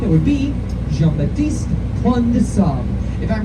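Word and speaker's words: Jean Baptiste Point du Sable: father of Chicago, and I just said that guy's name wrong. I said how most Chicagoans say his name. It's Baptiste Pointe de Sable, but that's not right. He was a Haitian man. He spoke French. His name was French, and I once had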